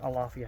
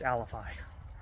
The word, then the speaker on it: Alafia: the AL alfi alifi I keep saying it wrong it's not Alafia it's alifi the alifi river Corridor